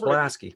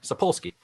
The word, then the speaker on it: Sapolsky: So the deal is that Sapolsky. Sapolsky. There we go. I can spell it. I think I learned how to say it wrong first before I looked at exactly how it was spelled.